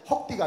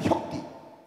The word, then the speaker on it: 혁띠: 헉띠가 아니라 혁띠, 허리띠로 막 맞고 감금당하고 아버지에게 성폭행 당하고 우리 교회는요, 와, 제가요 상담심리를 전공했거든요.